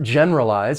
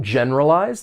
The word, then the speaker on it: generalize: For pronunciation, there are four syllables. The stress is on that first syllable. Generalize. Generalize. One one thing I'll say is that you may hear people say the word without that schwa sound and that schwa sound will elide and it's going to sound more like it has three syllables.